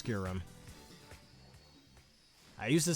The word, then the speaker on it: Kyurem: No, I'm pretty sure the official pronunciation for that is Kyurem.